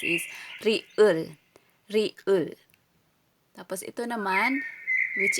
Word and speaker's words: 리을: Ang name nito or pagbigkas is riul.